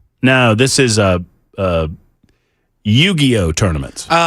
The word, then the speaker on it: Yu-Gi-Oh: Uh, in, uh, you uh, it's yu-Gi-Oh H. Am I saying it correctly, Jackson? Yu-Gi-Oh. Yu-Gi-Oh is how you say it.